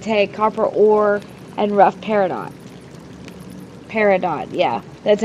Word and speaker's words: peridot: that's going to take copper ore and rough peridot Peridot yeah that's how you say it so